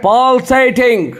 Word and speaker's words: pulsating: चलिए आज का मेरा चौथा वर्ड है Pulsating. Pulsating, P-U-L-S-A-T-I-N-G. देखिए P पे जोर है, इसका मतलब P के ऊपर लकीर है, इसका मतलब P पे